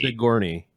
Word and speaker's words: Sigourney: Sigourney.